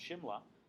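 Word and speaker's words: Simla: the London spelled without the age but it's pronounced Shimla um where if you wander around it's still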